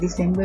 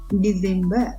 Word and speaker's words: December: මේක ගොඩක් ඒකත් December වගේ කියනවා මට හෙලක් තියෙනවා. නමුත් හරිම pronunciation එක December. නිකන් Z sound එකක් එනවා C එකත් එක්ක December මාසෙ.